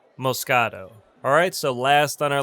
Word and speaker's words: Moscato: It's pronounced Moscato.